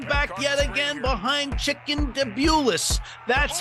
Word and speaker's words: Davidowicz: That gave the New Englanders the lead, but those pesky OGs came back yet again behind Chicken Davidowitz.